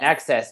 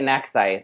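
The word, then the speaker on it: NEXXICE: Yeah, Nexus. It's Nexus. Don't say Nexice. But it's spelled Nexice.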